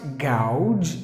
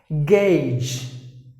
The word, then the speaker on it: gauge: have to pronounce gauge the letter e silent and a you should be pronounced like a or if you want me to say that on summer it's like a gauge gauge the next word is